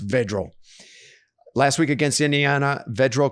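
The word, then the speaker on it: Vedral: than td passes three actually i think his last name is pronounced vigil last week against indiana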